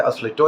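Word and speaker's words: Asle Toje: की उन्होंने असली चोर असली चोर की स्पेलिंग अंग्रेजी में है एस ल आई टी ओ के कहा जाता है असली तो या ऑस्ट्रेलिया के रहने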